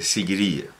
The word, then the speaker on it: Sigiriya: académicos generales era la roca de seguiría se escribe siguiriya como la seguidilla la forma canónica derivada